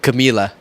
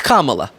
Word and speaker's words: Kamala: the Reas interview too C Camila that that's not her name I don't whatever that it's almost impressive how many different incorrect ways they come up with to say her name it's Kamala done or just call her